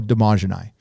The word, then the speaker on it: Dmajini: It is, I will, next time they go live, I'll put it on Twitter, but follow Damajani. It's DMAJINI. It took me about a year to say his name right.